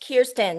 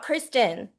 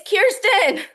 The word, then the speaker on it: Kyrstin: Her name is pronounced Kyrstin, not Kristen, everyone. Please tell them. It's Kyrstin. The Y is before the R.